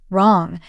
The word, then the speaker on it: wrong: the mountain then there's the silent w words like right wrong and wrist drop the W sound please write your name